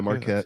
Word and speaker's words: Marquette: Is it Marquette? Yeah, Yeah, Marquette. that's it.